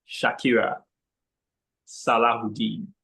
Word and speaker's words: Shakira Salahuddin: to the virtual lectern, Toastmaster Shakira Salahuddin. I hope I got that pronunciation right. Toastmaster Shakira, virtual lectern. Thank you very much, General Evaluator. Yes. The pronunciation is apt.